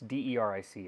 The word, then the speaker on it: Deric: It's Deric. It's like Eric with a D.